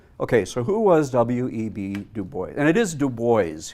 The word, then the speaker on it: Du Bois: puppy you know and you don't say marseille you know anything any french place names in the united states are always pronounced differently so it is dubois williams william edward berghardt